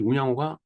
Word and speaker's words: 운양호: 요새는 운요호라고 얘기를 하는데 이 운양호가 일본어로 발음하면 운요가 됩니다. 그래서 운요호라고 자꾸 하는데 입에 이렇게 익숙지 않은 용어예요.